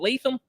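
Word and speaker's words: Latham: did I nail that name John is it leam yeah it's JC leam uh Blue Chip Prospect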